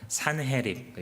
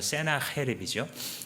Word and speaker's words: 산헤립: 역사상 존재했던 왕 중에서 꽤 강한 왕으로 손꼽히는 사람이 바로 산헤립, 영어식 발음으로 세나헤립이죠.